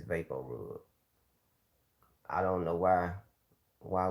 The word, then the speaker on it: VapoRub: big says and and what vic says is i'm not saying it right it's vaporub i don't know why